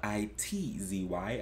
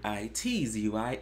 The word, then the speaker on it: ITZY: I believe it's spelled I-T-Z-Y. I believe it's pronounced ITZY. This song is called Wannabe.